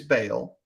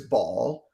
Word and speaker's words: Baal: nuances to it um the most common english pronunciation is baal the second most common dependent where you live regionally is ball um and if you